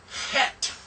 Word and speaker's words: Het: The sound of Het is CH as in Bach. Bach. But it's not a K. We'll practice that. Just for now, realize it's not H and it's not K. It's not Ch either.